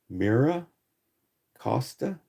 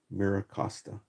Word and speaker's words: MiraCosta: In English, it's called Mira Costa or Myra Costa. I don't know how they would pronounce it. In Spanish, it means look at the coast. Mira Costa. And it's Miracosta, one word.